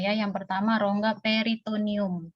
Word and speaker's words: peritoneum: Ya yang pertama rongga peritonium tulisnya peritoneum new Tapi bacanya peritonium peritonium Ya kemudian yang distended